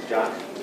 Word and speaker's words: Jocz: And then we have Jocz, right? And Jocz? Close. Close. Just like it's spelled. Jocz. J-O-C-Z.